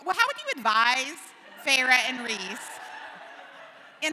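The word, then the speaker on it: Feyre: learned from Aaron yesterday she did not know it was fav she thought she was like fair so she's been saying it wrong for seven books uh so this is uh Farah and Rees Farah Farah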